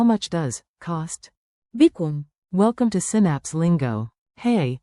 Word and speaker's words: بكم: بكم. Use it anywhere, shops, markets, ticket booths. Remember the mnemonic, be calm. بكم. Ask calmly, get better deals.